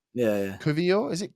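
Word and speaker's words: Kiwior: w r o yeah Kio is it k k yeah because in po polish and German you pronounce the W's as like V's almost so K okay there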